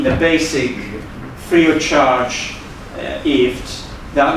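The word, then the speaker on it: IFTTT: IFT, and they say, pronounce it like gift without a G. It sounds like one of those American things. Okay, so basically is IFT.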